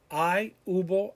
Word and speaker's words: hubo: Remember, all of these, the H is silent. Hubo, había, habrá, haber, habido.